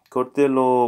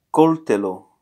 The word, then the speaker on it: coltello: Coltello, of course, it's a knife. Coltello. It's not coltello, but coltello. Okay, we have la forchetta, coltello, and cucaio, cucaio, something like that.